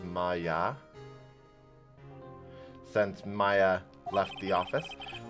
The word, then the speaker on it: Maya: maya left may since i think the pronunciation is maya since maya left the